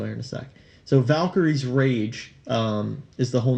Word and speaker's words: Valkyrie: of that time now I don't know how anyone can mispronounce the word Valkyrie especially when you look at it but I have seen multiple people pronounce it Val Kyrie and with that space in it so I don't know